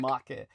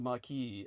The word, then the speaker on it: marque: It's called marque. Right. Even though it's spelled marque, it's like a letter of marquee, as Americans would mispronounce it.